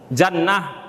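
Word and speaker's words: جنة: tetapi beda cara membacanya yang pertama jannah jannah itu dibaris fatahkan jimnya yaitu maknanya Darun Naim yaitu surga seperti Allah berfirman dalam alquranulah Jannah jimnya berbaris fathah kemudian apabila dibaris kasrahkan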